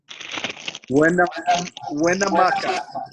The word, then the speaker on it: Winnemucca: know if I'm saying this right, but it's Winnemucca, is that right, Clinton? Did I say it right? Winnemucca, Nevada, where he told me that school, did I say it right? Winnemucca.